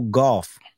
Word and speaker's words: Gauff: Coco Golf. If you're not familiar, look it up. Golf is spelled Gauff.